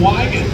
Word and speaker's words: Wigan: It's like Wyan Manifold, but with a G. Or at least I believe that's what it is. I'm actually going to have to ask and make sure I say it correctly.